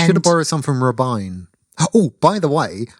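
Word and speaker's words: Robyn: have borrowed some from rubine oh oh by the way um rubine is how you pronounce the name r-b-y-n um if your name is spell oribi i n you're allowed to call yourself Robin yeah Robin I think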